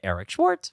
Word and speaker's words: Eric Schwartz: TZ tell them your social medias yo Instagram Eric Schwarz with three e e e e r i c s c h w a r TZ is pronounced Eric Schwarz nice yeah you're seriously one of my favorite